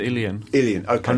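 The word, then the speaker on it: uilleann: the Ulian or whatever it is, something like that. Ilian? I think it's a little closer to Ilian.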